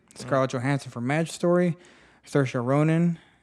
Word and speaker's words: Saoirse: Johansson for Maj story Saoirse Ronan we're gonna say her name Saoirse it's not spelled like that at all so sure Ronan for a